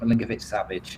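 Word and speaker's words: Milinković-Savić: As for, and I can never pronounce his surname, I think it's Milinkovic-Savic, the Torino goalkeeper.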